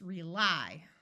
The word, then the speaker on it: rely: In this word, the syllable is accented, which means it's an open syllable and would try the long I sound. So it's rely.